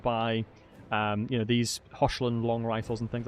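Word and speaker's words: Hochland: particular elector count position it's not hotland it's like hland you got to spit hland okay well thank you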